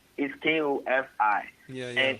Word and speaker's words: Kofi: And I know a lot of times in the being in the States, a lot of people pronounce it Kofi. Yeah, yeah. You know? Yeah, man. But it's Kofi.